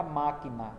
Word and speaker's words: máquina: Então eu tenho o exemplo aí da palavra máquina, que está aqui, ó. Máquina é um exemplo, né? Dentre tantos outros que existem na língua portuguesa, máquina é um exemplo de palavra de acentuação proparoxítona.